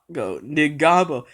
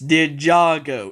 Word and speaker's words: Ninjago: It was like basically Ninjago, Ninjago, Ninjago, Ningabo. It's Ninjago. It's really not that hard to pronounce.